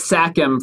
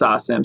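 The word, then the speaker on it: SACEM: every country it's awesome i thought it was sakum for the longest time because there's a c in there but then my my french homie lawless told me it's actually pronounced sasam shout out to lawless from bounce gang it's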